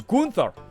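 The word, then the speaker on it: Günther: name you have to imagine there's an umlaut over the you and gunther it's kunta hey an old man's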